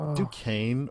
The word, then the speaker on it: Duquesne: Is it Duquesne or not? Like, it is Duquesne. It's Duquesne. Okay, because I saw spelling online and I was like, what the fuck is this? Oh, no, it's spelt weird, but it is Duquesne.